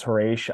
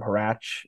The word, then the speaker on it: Horatio: Same thing with my wife says it's Horatio. I always called him Horatch or Horatch.